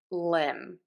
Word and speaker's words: limb: at the end of words, in the word limb.